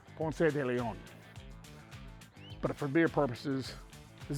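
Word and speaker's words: Ponce de León: wife being Puerto Rican, she does not like me saying Ponce de Leon. She wants me to say it like it's supposed to be said because Ponce was Hispanic and used to pronounce his name Ponce de Leon.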